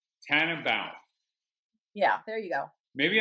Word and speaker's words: Tannenbaum: it again i want to say it right tan about yeah there you go maybe i'm hearing in